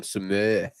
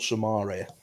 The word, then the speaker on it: Samar: So, Samar, Gus, Samar, is that how you say his name? Cuz I'm calling him Samir. Yeah, it's Gibbrel Samar.